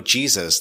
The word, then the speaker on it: Jesus: typed and was like do you mean hey Zeus and he typed back no Jesus like rhymes with cheeses I was like oh